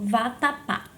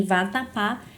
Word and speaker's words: vatapá: Então, por exemplo, vatapá. Em vatapá, a sílaba tônica é a sílaba pá.